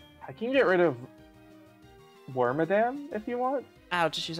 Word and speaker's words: Wormadam: can get rid of wormadam if you want ouch she's earthquake okay okay I was wondering you say worm do you say worm wormadam or wormadam wormadam I know that it comes from Madame it probably should be